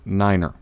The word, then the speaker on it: niner: 3 5 & 9 3 pronounce phonetically is tree-like the thing with leaves on it 5 phonetically is 5 fi fe 9 phonetically is Niner everybody knows that one all right now